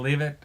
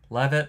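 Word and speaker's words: Leavitt: I always say her name wrong. Levit or Leave it. It's spelled leave it. I think people say it Levit. I think she says Levit. So, I'm going to say Levit.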